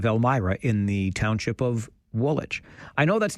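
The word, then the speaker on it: Woolwich: I've talked earlier today about the town of Elmyra in the township of Woolitch. I know that's not universally popular. I like dropping that second W.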